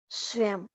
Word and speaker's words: स्वयं: शब्द के अंत में आने पर अनुस्वार का उच्चारण हमेशा म के रूप में किया जाता है। शब्द के अंत में जब अनुस्वार आएगा तो उसका उच्चारण किससे होगा? म से। जैसे स्वयं, ये म है।